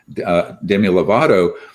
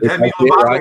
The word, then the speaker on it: Demi Lovato: uh my kids would say I'm really lame, Demi Lovato. You said it right. You said Demi Lovato right.